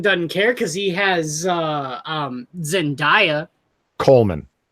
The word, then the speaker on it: Zendaya: Spider-Man doesn't care because he has Zendaya. Coleman. Say her name right. She's a perfume. No. Zendaya.